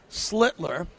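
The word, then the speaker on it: Schlittler: Cam Slitler, say his name right, Slitler.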